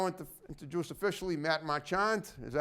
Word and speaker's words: Marchant: to juice officially Matt machand is that how you say it Marshawn Marshawn okay the CNA the CH is kind of soft it's not hot I